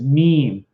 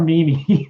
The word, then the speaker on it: meme: name according to the oxford dictionary his bbc's pronunciation is meme not may or mimi so that's good so don't say mimi or